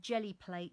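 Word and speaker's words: Gelli Plate: And if you look up her name and then Jelly Plate, which is spelt G-E-L-L-I, Jelly Plate, as in gelatine, put that into the search box on YouTube, Ruth.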